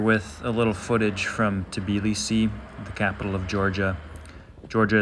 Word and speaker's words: Tbilisi: So just to give a little contrast here with the smaller village, I thought starting in Tbilisi, which is what most people call it, or Tbilisi is how it's said in Kartuli, to provide a contrast.